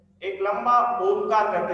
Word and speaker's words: ओम: हम ओम का उच्चारण करने वाले हैं। अ, उ और म, तीनों अक्षर का बेस लेकर जो एक बड़ा अक्षर बना है ओम का उच्चारण, तो वही ओम का उच्चारण हम अभी करने वाले हैं।